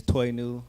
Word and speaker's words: Toinu: Um my name is Toy New. Uh it's pronounced like New Toy backwards.